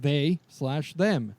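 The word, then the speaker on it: They/Them: slash them is pronounced they slash them it's a slasher horror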